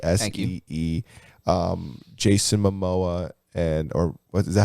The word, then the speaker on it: Jason Momoa: Jason Momoa or what is that how you say his name?